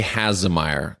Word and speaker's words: Hasemayer: A little bit so what is the real pronunciation and is what do you want us to say okay has AER like like possession of Oscar Meer has a